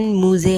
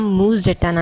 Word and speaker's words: Moose: खैर, कुछ लोग कहते हैं कि मूस के नाम की प्रोनाउंसिएशन मूजे है, बट नहीं, उनका नाम मूस जाटना ही है।